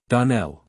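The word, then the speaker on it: Donnell: would set it right DaNell Accent on the last syllable and sa CLA on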